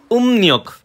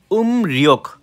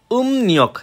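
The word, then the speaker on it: 음력: search দিলাম দিলাম চন্দ্র calendar যে আর কি উম নিয়ক আমি কিন্তু সার্চ দিছি ভাই উমরিয়ক ঠিক আছে উমৃক কিন্তু সঠিক উচ্চারণ উম নিয়ক এই যে এখানে দেখেন কোরিয়ান স্পেলিং সহ লেখা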